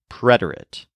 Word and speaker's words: preterite: To help remember which is which, the word preterite has a stress on the syllable red, preterite.